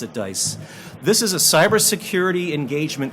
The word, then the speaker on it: DICE: We pronounce it DICE.